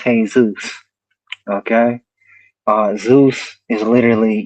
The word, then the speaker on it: Yeshua: Um we know at least in the Greek manuscripts that we still have today, uh the Messiah's name is present pronounced Yeshua.